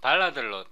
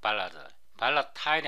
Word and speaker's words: volatile: CV Qualifier는요, 멤버, 함수, 파라미터, 목록 뒤에 붙는 const, 발라드, 이걸 발라들로 발음하도록, 발라 타일이 아니고 발라들로 발음하도록, 발라들 또는 const, 발라들, 이런 거를 CV Qualifier라고 말합니다.